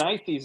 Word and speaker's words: Berenices: Okay, how did you pronounce it, Chuck? Berenices? Coma That's- Berenices is what I've heard.